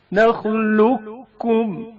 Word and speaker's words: نخلقكم: قاف ساکن کا کاف متحرک میں ادغام. نخلقكم. ادغام کی حالت میں نخلقكم نخلقكم پڑھا جاتا ہے.